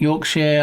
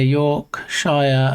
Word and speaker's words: Yorkshire: Sh are also a fun one. Like Yorkshire. I hear York Shire a lot rather than how we say it. Yorkshire.